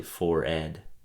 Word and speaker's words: forehead: another random fact mhm supposedly you have been mispronouncing forehead your entire life me yeah or just everybody well I every okay yeah how is it supposedly it's actually fored no way really I